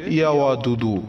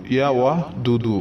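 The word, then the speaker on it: يا ودود: আমলটি হচ্ছে মহান রব্বুল আলামিনের গুণবাচক সিফাতে একটি নাম, নামটির উচ্চারণ হচ্ছে ইয়াওয়াদুদু, ইয়াওয়াহ দুদু। এই নামটি আপনাকে পাঠ করতে হবে 100 বার।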